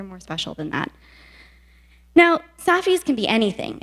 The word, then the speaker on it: SAFIH: It's SAFIH. It's spelled SAFIH, and it's an acronym that stands for Super Awesome Fundamentally Improbable Happenstance.